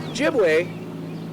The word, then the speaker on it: Ojibwe: Ojibwe is the proper pronunciation of the word. Chippewa was kind of mispronounced by the government, and that's how it's officially recognized.